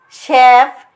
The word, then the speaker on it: chef: us what are these pictures about Chicken chimpan Chef machinaries Bravo good job Mom in the word